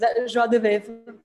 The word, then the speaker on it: joie de vivre: I don't have the best pronunciation in French neither, but joie de vivre.